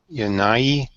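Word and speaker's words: Jannaeus: a e s okay it's pronounced with a Y anyway right the J I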